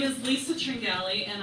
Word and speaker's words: Tringali: name is Lisa Tringali, and I like having a name that's easily pronounced, but very easily mispronounced when you read it, T-R-I-N-G-A-L-I.